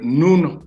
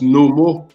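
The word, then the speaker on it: Nun: Et vous avez un élément liquide, c'est ce qu'on va appeler le Noun pour les égyptologues occidentaux. Mais le mot, je l'avais expliqué dans une vidéo, se prononce Nomo, qu'on retrouve chez les Dogons du Mali.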